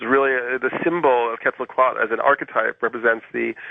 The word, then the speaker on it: Quetzalcoatl: I've been saying Quetzalcoatl because I always thought that L was significant at the end, but you're dropping it. Yeah, apparently the L is silent.